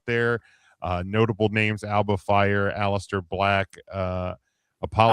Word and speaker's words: Aleister: Notable names: Alba Fire, Aleister Black, Apollo Alistair Crews, who? Aleister Black. Ah, I'm not as good as you at it as you are, Mark. you got to roll your R's.